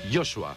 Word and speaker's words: Joshua: ¿Cómo se pronuncia? Joshua.